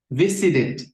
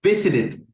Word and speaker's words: visited: Entonces, recuerda, cuando el verbo regular en su forma base termina en T o en D y lo queremos pronunciar en pasado, que se le agrega ed, va a sonar como it. Esto lo vas a encontrar como así, it.